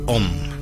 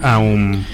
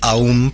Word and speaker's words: Aum: la contracción, es el Om como tal. Claro, pero se debe pronunciar Aum. En realidad, se pueden pronunciar de las dos en realidad, pero sí es más completo hacer como el Aum, porque eso te permite